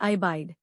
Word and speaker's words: abide: इसका प्रोनाउंसिएशन है अबाइड।